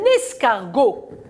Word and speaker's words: escargot: Un escargot, très bien, on a le T muet.